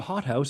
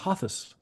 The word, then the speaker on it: hothouse: And you know it whether you know it or not, because you don't misread the word hothouse as hothus. Right? You know that that's not a TH.